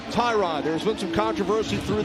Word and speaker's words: Tyrod: And by the way, it is pronounced Tyrod.